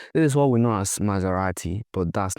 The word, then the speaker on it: Maserati: This is what we know as Maserati. But that's not how Italians pronounce it. This is Maserati. Maserati. Not Maserati. Maserati.